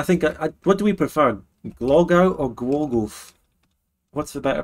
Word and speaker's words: Głogów: Oh, it's Głogów. I think, what do we prefer? Głogów or Głogów? What's the better pronunciation?